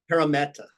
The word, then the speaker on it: Parramatta: to ask every player on penrith did I pronounce that okay yes what was the other one Parramatta para meta if I asked both those teams on a